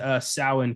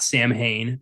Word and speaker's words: Samhain: Oh, I did like that they pronounced Samhain correctly. It's not Sam Hain, though it may look like Sam Hain.